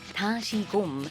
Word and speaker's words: Dasigom: Beth Seung-Ju Lee named her company Dasigom, pronounced Dasigom in Korean.